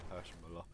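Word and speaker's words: Hirschmüller: Just piss off Buff by saying Hirschmuller. That's the right way to pronounce it, guys.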